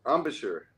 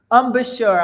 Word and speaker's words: embouchure: if I'm saying it right what's um in in Boucher and Boucher oh you speak French too yes how do I say it embouchure embouchure I'm all making I'm not making it more